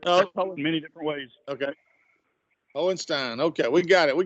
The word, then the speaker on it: Hohenstein: Hohenstein? Sounds like you guys are saying it right. Close enough. I've heard it in many different ways. Okay. Hohenstein.